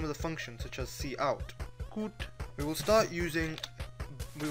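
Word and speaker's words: cout: we need to write C out the cot object is used to display text pronounced C out followed by two opening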